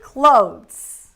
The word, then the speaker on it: clothes: word is CL no we can just say clothes clothes here we do have the th but we don't need